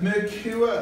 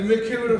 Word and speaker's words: Mercure: So we're at the Mercure Hotel, have I said it right? You have said it right. The Mercure Hotel, because they always struggle with it.